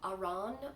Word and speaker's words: aran: be mispronouncing that too i say aaron weight which is like a heavy worsted um but i just heard that in europe they they say it uh iran or something along those lines i don't know so